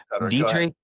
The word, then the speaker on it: Dietrich: Dietrich. Dietrich which is spelled like diet like a diet coke d i e t and then rich the opposite of poor.